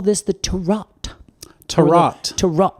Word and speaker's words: Tarout: I'm not sure, but it appears it's pronounced Tarot. It's spelled Tarout.